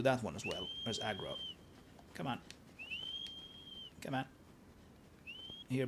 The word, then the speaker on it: Agro: time a lot of people thought it was Argo. I think it's been established that it's aggro and it is indeed aggro here in these